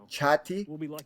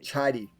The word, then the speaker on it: chatty: have a t sound chatty chatty or you can say it she's very chatty everybody chatty it's almost like a D sound and when people say